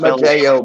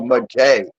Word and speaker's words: Matei: Not Mateo, Matei.